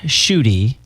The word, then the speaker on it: Schuette: angels's Angels okay so shoy rhymes with booty yes I just like